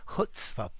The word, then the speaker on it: chutzpah: hi there students hutzpah i've also heard people say cutspa but i think i would recommend just going with the hutzpa pronunciation losing the c or the ch the c okay this means that